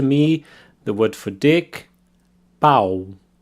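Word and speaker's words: pau: the word for dick bow bow very open ah sound their bow the word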